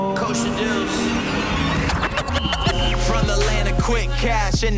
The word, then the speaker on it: Kosha Dillz: You know I'm Kosha Dillz, simple. K-O-S-H-A-D-I-L-L-Z, rhymes with a pickle, it is simple.